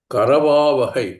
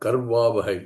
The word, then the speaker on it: करवावहै: In Sanskritam, the distinction between a consonant without vowel and a consonant with the vowel is very distinct. It has to be seen very clearly. Karavavahai, not karvavahai. Because in the north, we tend to speak Hindi has a little bit